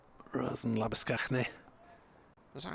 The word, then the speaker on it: Labuschagne: And watching Labuschagne play.